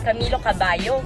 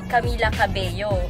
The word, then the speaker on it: Camila Cabello: pronunciation ng name ko, sabi nung lalaki is Camilo Cabello, sabi. Pero sabi ni Camila, Camila Cabello. Anyway, spelling ng name niya double L.